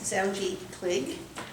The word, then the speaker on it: Zoungy Kligge: I've been mis mispronouncing it all this time. This is Zji Clig.